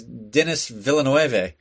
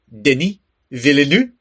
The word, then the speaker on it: Denis Villeneuve: I mean, the first time I heard it, I was like, it's Denis Villeneuve. But no, it's Denis Villeneuve.